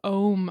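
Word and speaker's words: Ogham: written language is called ohm i know there's a g in the middle the irish language oh oh my god it's very complicated g and the h is silent together i know it's very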